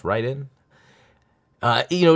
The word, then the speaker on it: Raiden: you've heard of it I grew up saying Raiden and I and I think because of Mortal Kombat they say Raiden but I think it's supposed to be pronounced Ryden uh you know it's